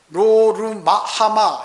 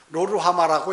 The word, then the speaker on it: 로루하마: 또 딸을 낳았는데 로루마하마 이렇게 발음도 어려워요. 로루하마라고 이렇게 지었어요.